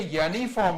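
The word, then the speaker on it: uniform: क्यों यूनिफॉर्म नहीं होता, ये यूनिफॉर्म होता है प्रोनाउंसिएशन में, यूनिफॉर्म टाइप का बोला जाता है। तो इसीलिए यूनिफॉर्म होने के कारण, वाई का प्रयोग होने के कारण इसमें ए लगता है।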